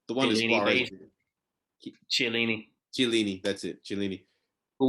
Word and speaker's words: Chiellini: Lukaku would like the thing about the Juventus defenders, Bonucci and Chiellini, I forget how to pronounce it. The one is Suarez. Chiellini. Chiellini, that's it, Chiellini.